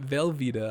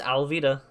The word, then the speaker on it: Alvida: Alvita? I keep It's Alvita. It's Alvita? Yeah. I keep pronouncing it Velveeta.